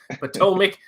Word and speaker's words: Potomac: how you pronounce it thank you king of mispronouncing things potomac and avenell farms is it aveno i have